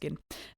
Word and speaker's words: Gin: of Jyn, who's or Gin. You have to Gin. Um, but spelled like Jin, but pronounced Gin.